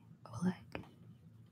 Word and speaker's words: Oleg: You are saying it perfectly, Oleg.